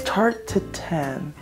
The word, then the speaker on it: Tarte Tatin: All right, it is day 3, and I also realized that I've been pronouncing Tarte Tatin wrong this whole time. So it's Tarte Tatin, Tarte Tatin, Tarte Tatin, Tarte Tatin.